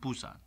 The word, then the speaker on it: Busan: I've returned to Pusan harbor how do you pronounce POC push that Busan Busan Busan Busan but a lot of people